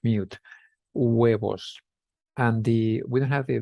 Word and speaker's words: huevos: So we have huevos, huevos. Remember the H is silent in Spanish, so we don't pronounce it with, so that's like mute, huevos.